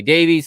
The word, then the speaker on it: Davies: If you are in the UK, you're probably going to pronounce that Davis. Here in America, we say Davies, so I'm going to say Davies.